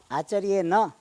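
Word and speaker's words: आचार्येण: Acharye na.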